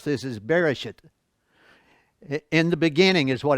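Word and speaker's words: בראשית: because it sounds ugly, but the way you pronounce this is Bereshit.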